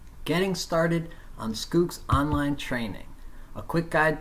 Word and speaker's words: Schoox: end instead of an L and it is pronounced scoops I've shown the logo below and the video